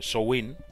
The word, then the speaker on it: Samhain: Llavors és una festivitat molt arrelada a les tradicions cèltiques i gaèliques, en especial una que es diu, bueno, s'escriu Samhain, però es pronuncia Samhain, i són celebracions pel final de la collita amb el començament de l'hivern.